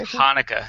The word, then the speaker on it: Hanukkah: couldn't check in khaki Hanukkah it's not CH Hanukkah huh I don't even know